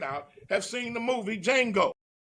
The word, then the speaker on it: Django: have seen the movie Django D capital d j a n g o the D is silent with Jamie Foxx and